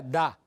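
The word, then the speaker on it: דא: tiene un el sujeto que se pronuncia tto que quiere decir esto en arameo se pronuncia da y en hebreo se pronuncia ze y significa esto pero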